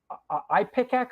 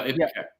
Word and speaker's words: Ipecac: And how did your album on Ipecac? Am I pronouncing it correctly? No, Ipecac.